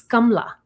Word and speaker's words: Kamala: She just pronounces it like a black name. Her name is Indian. It's Kamala. That's the name.